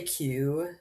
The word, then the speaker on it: queue: riddle that was like, "What's a word that's like one letter followed by like four silent letters?" And it was like, "Queue." Cuz it's Q U E U E.